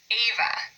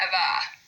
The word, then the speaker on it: Ava: And you'll notice with all of them, we say the first syllable just a little bit louder. We say Keegan, not Keegan. Ava, not Ava.